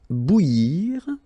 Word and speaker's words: bouillir: Then, cuire au four, bouillir, so that's maybe the tricky one of the list here. So, bou, and then yir, okay? Bouillir, so bouillir, bouillir, okay?